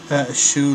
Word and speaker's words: Shu: Liu Bei is spelled Liubei. Liu Bei, maybe, instead of Bell. Liu Bei. The Kingdom of Shu. Shoe like a shoe.